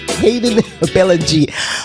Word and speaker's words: Hayden Billingy: And today, you're going to have a special guest artist, Hayden Billingy. That's the correct pronunciation of his name. Hayden Billingy out of St.